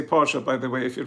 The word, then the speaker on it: Porsche: we have to say Porsche by the way if you pronounce it German Audi not Audi Audi Mercedes not Mercedes Mercedes and Porche don't forget the a at the end Porche what's a V3 I